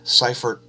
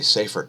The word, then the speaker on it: Seyfert: an indication that it's changing look Seyfert properties or I should say Seifert properties because I believe that's the way it's correctly pronounced anyway there's a paper